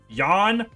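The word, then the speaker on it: Jahn: the do you spell Jon yan yan it's JN someone told me in the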